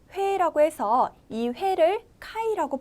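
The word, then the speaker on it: 回: 같아요 그다음 옆에 보실게요 몇 회라고 해서이 회를 카이라고 발음을 해요 그래서 까라고 하는데요 1회라고 할 때 이까이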